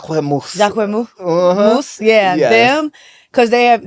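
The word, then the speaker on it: Jacquemus: about that's how you say it J Mo J moose yeah them cuz they have they're very minimalist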